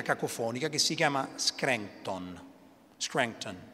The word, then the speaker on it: Scranton: Biden si ricorda che lui è cresciuto in Pennsylvania, una cittadina cacofonica che si chiama Scranton, Scranton si dice con accento americano.